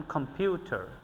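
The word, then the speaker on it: computer: এবং ভিউ এটাকে স্ট্রং এটাকে আমরা উইক সিলেবলে উচ্চারণ করেছি। যেমন কম্পিউটার, কম্পিউটার, কম্পিউটার, কম্পিউটার।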